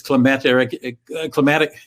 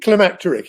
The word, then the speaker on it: climacteric: European adventurism and imperialism, and it reached its climacteric. That's a new word to me. How do you pronounce it? Climacteric.